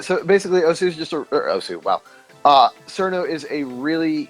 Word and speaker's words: osu!: It's Os, but everyone and their mother's uncle calls it Osu. So either or is definitely acceptable. I mean, yeah. So basically, Osu is just Osu.